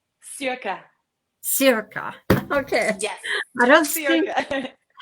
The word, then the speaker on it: Cirke: And our guest is Cirque Cherokee, and I know I'm saying it wrong. Cirque, so tell me how you say your name. Circa.